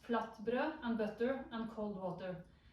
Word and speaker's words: flatbrød: Had flatbread, pronounced flatbrød, and butter and cold water.